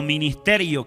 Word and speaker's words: minister: esta palabra ministro o ministerio que es la misma deriva de una palabra latina que se pronuncia si se pronuncia minister significa sirviente significa que